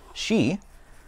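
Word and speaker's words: 四: Fun fact for you actually, in Japan, number 4 is considered unlucky because it can be pronounced shi, which sounds like shine, or to die.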